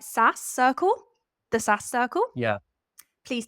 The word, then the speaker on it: SaaS Circle: SaaS Circle?